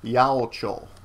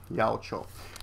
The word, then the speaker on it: 八百長: Pronounced together, it's Yaochou. Yaochou. Then it says sannin, 3 people.